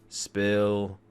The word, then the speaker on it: Spill: This is the 34th edition of the Chill Spill Podcast. The S is silent, by the way.